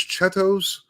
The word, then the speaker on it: Cheetos: play like um the the word for Cheetos here is chettos, right? I I don't know why, but that's how they pronounce it here. And and uh my girlfriend has little toes.